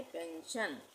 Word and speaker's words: pension: तो एस के बाद क्या आ रहा है? ION। तो यहाँ पे भी इसका उच्चारण श हो जाएगा। इसको हम पढ़ेंगे पेंशन।